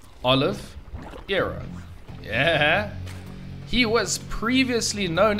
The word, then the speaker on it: Oliveira: name I've heard it I kept calling him calling him oliviera how that doesn't even work so it's Olive Aaron yeah he was previously